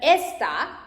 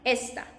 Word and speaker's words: esta: And está, like this, is, she is, he is, está, because it has this accent, and when you pronounce it, you can see está. But esta, like this one, like here, it means that, like means this one, esta, this one, esta.